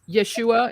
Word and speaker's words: Yeshua: I wonder so has this Yeshua, is that how you pronounce it?